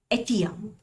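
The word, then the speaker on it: Etteilla: Famous थे वो था एटिया। इसमें डबल एल यहाँ पे आ रहा है बट इसमें एल साइलेंट रहता है।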